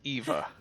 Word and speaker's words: Eva: heard the same thing i might have mispronounced it the first time yeah it's eva yeah eva gotcha yeah i think i did say ava the first time yeah